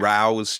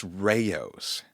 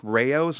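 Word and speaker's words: Rao's: up into your body we were talking about Rouse tomato sauce right yeah and somebody on Instagram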